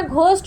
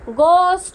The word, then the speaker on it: ghost: অনেকে এটাকে ঘোস্ট বলে, উচ্চারণটা ঘোস্ট নয় কিন্তু, গোস্ট হাউস, ঠিক আছে।